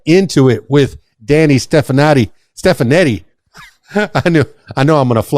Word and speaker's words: Stefanetti: correctly Danny stepan stefanetti Danny stefanetti it sounds so Italian is it Italian that's right you got it I am half Italian